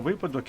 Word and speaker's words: випадок: листопад дивимось наступне слово випадок чи випадок правильно вимовляти випадок А нам подали неправильну